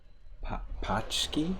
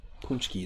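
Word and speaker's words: pączki: Pachki? Is that how it's pronounced?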